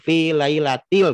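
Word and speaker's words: في ليلة: Kata yang di belakang teh til cenah harusnya mah komplit gitu. Fi lailatil gitu. Jangan til hungkul.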